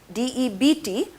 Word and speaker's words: debt: into a credit debt debt means d e b t but the b is silent debt means karza okay